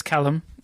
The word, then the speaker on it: Callum: name is Caleb no it's not really it's Callum which is a very commonly mispronounced name which Julian was calling me for